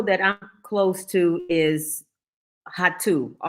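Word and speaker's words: Rato: I'm close to is hatu r a t o here Portugal don't pronounce the r is pronounced sort of like a h so hot to it's a 10-minute walk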